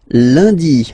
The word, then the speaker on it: lundi: And in France, the week starts with lundi, Monday, lundi, lundi. Okay, remember, UN is pronounced like un, lundi, lundi, lundi.